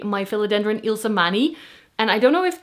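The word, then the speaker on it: Ilsemanii: I'm saying Ilsmani because Ila is a common Dutch name, but I was just watching a Kilan video and she was saying Ilmani because in English is written as like I L E.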